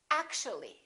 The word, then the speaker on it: actually: actual three syllables actual but if we add the ly like here this disappears and we say actually actually we don't say actually